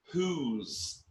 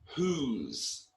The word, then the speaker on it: whose: about a possession and the pronunciation of that is whose whose okay so some people pronounce that wrong then we've got how